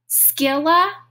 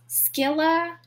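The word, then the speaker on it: Scylla: of death or death i'm gonna check my pronunciation god skila or charybdis skilla skila or charybdis death or death skilla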